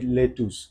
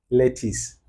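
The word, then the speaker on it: lettuce: আসছে পরে দেখলাম যে লেটুস আমি তো বললাম লেটুস পরে সে বলতেছে বাট আসলে কথাটা বলে হচ্ছে ইংল্যান্ডের but usually it should likes pronounce লেটিস নট লেটুস অর not less ঠিক আছে বাট ইফ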